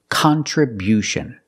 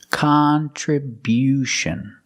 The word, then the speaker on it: contribution: We change the stress to the first and third syllable. Contribution. Contribution. The first and third syllable. Stress the first and third syllable. contribution. And because we stress the first syllable, the sound changes. It's not con, it's not the short sound, it's con con. We use the short a sound like hot and stop.